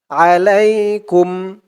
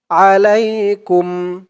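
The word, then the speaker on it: عليكم: টান তুত লাতুম তুতলা আলাইকুম আ লাই লাম দিয়ে ইয়া ধরবে লাই আলাই কাফ দিয়ে মিম ধরবে কাফ মিম পেশ কুম আলাইকুম আলাইকুম আলাইকুম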